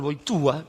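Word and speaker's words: Wojtyła: Por eso el que escribió Gaudio Betespez, Carol Boitúa, que es como se pronuncia Boitila en polaco, eh tenía intentó dar otro perfil.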